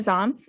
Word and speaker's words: Zom: have is it zan tom come on up please please pronounce your name so that i can say it correctly um it's zom um and present where